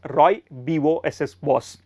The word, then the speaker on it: Rooibos: tea is called as rooibos tea Rooibos are pronounced it as Roy b o s s boss now this tea is being sold by many